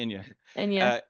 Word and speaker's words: Ina: Ina like the singer.